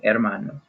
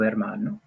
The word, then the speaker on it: hermano: little guy and then we don't pronounce the H here so this first part sounds a lot like air like what we breathe at emmanuel alright so